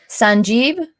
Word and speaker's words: Sanjeev: Sanjeev, is that how you say it?